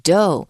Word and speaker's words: dough: 我们今天的主题呢是捏面人，而那个面团在英文里面就称之为 dough，要注意哦 GH 是不发音的。首先来看到第一个空格的句子写着 Displayed before the man blank one examples